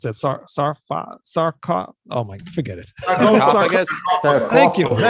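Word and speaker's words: Sarcófago: And how do you pronounce that? Sarcafago.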